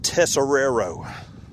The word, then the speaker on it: Tessero: the last name field tessero there it is all right yeah buddy I appreciate that I I actually cheated I put accents over the first s and over the second tessero back when I